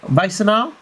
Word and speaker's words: Wassenaar: I think so I pronounce it. Yeah. Wassenaar?